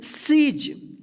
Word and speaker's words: siege: सीज, ठीक।